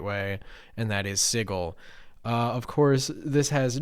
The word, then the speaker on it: Sigil: as I understand it the guy that made the setting did not know how to properly pronounce that word and so he very boldly said it was sigle uh and that has sort of become the um I guess sort of the uh the pronunciation of it though technically you're really